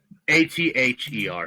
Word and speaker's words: Ather: and you'll have a guess how do you spell it Josh really quick before you get too deep how do you say it a t h e r Stone ather okay um well the game it's